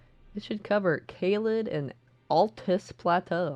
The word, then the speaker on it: Altus: It should cover Caelid and Altus Plateau. I'm going to pronounce it correctly now. Altus. I've been pronouncing it Atlas Plateau since I started the game, but apparently it's Altus Plateau.